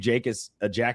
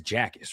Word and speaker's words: Jacas: Is it Jacas or Jacas? I think it's Jacas, right? I think it's Jacas. That's what the U of I pronunciation on this bio said.